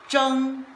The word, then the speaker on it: 争: It pronounced as jung which means fight or coral.